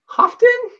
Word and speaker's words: Hoftun: a cool guest an awesome guest uh Chris hofton I should have asked you how to say